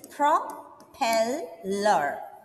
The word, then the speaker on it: propeller: So whenever you come across difficult words like this, propeller, you divide the word into syllables. So here, propeller. This word has got 3 syllables.